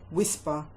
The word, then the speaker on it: whisper: Whisper. W, silent H, I, S, P, as in flower.